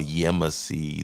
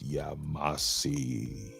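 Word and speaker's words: Yamasee: and that down there what they call yemassi the proper pronunciation is yamasi okay okay poke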